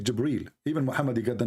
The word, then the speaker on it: Jibril: here he arrived gabriel it's not gabriel by the way it's jibril even muhammad he got